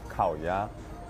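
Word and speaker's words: 烤鸭: So how you say it in Chinese is 烤鸭.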